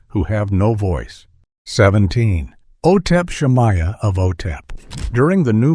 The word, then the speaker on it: Otep Shamaya: The center of this storm was the lead vocalist, Otep Shamaya, pronounced Otep Shamaya.